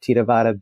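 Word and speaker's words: Theravada: and being able to provide a a a theaveda he pronounces it tavvada Buddhist practitioners from Burma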